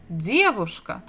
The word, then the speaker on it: девушка: And the stress is also the same syllable, the first. Dedushka, девушка.